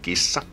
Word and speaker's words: kissa: And we pronounce it by just combining all the different unique sounds together. Something like kissa. Kissa. We just have to prolong the S because it's double S.